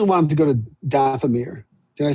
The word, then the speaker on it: Dathomir: I really want them to go to Dathomir. Did I say it right? Dathomir?